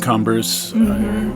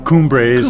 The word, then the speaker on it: Cumbres: This and Cumbres, Cumbres, it's pronounced both ways.